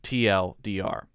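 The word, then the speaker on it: TL;DR: opinion and you know if you say too long didn't read that would actually be weird so no one will say give me the too long didn't read there you would only say the acronym tl dr how about this one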